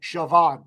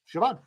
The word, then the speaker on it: Siobhan: it was spelled right yeah s-o-i-b is in boy h-a-n Siobhan yeah it's not there's no CH in there there's no V's in there yeah sir brass got it yeah Siobhan yeah uh yeah Matt